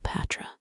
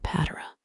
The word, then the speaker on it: Cleopatra: You fixate on the third syllable patra, not patera, though historians still argue whether she preferred the Egyptian Kilupatara.